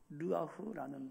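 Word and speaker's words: רוח: 히브리어로 발음하면 르아흐라는 말인데 여러분 다 똑같은 말입니다.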